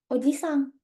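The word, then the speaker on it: おじさん: Tapi kalau paman, nggak ada I-nya. Oji, Sang.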